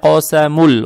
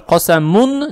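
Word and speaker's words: قَسَمٌ: Но так как мы видим, что две даммы ставятся одинаково, мы понимаем, что «коса мун» никак не может быть.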